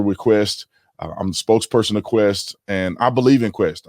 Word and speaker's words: KWESST: the executive chair of quest quest is spelled k-w-e-s-s-t and it's pronounced like quest like the internet company or the the cable